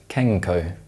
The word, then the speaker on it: Kenco: Other examples include the British coffee brand Kenco, which is actually pronounced Kenco, and the British chocolate bar Kit Kat, which is actually pronounced Kit Kat.